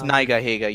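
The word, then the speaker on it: Nigahiga: Yeah, I think it's Niga Higa, yeah. Because he's Japanese and everything. So it makes sense that it's pronounced that way.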